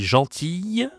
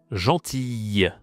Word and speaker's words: gentille: Je suis gentille et souriante. Attention ici, prononciation, gentille, gentille. C'est pas facile à prononcer, hein. Y, gentille.